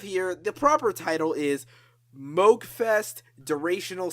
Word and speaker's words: Moogfest: Actually, it's pronounced Moogfest. Huh. Alright then. Learn something new every day. Wait, does that mean I've been saying it wrong for like 5 fucking years? Don't worry, I did too, but then I learned about Dr. Robert Moog, and, well, the rest is history.